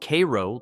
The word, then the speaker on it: Cairo: Cairo, pronounced Cairo locally, not like the Egyptian city, and locals will correct